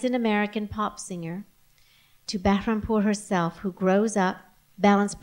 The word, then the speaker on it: Bahrampour: You can pronounce it for me. Bahrampour? Bahrampour.